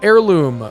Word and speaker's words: heirloom: Behold this humble heirloom. Does that count as an alliteration if the sounds are different like the H is silent there, but the H isn't silent?